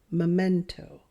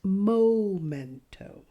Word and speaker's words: memento: you hear the difference memento not momento let's look at the correct way to pronounce this word Memento memento memento this is a memento Memento this is a memento momento isn't a word and Memento is a